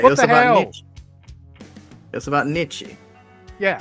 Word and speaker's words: Nietzsche: grudge, but given that the thread was about Nitsky, there is no eternity. There is only the void. Wait, What it was the about hell? Nietzsche.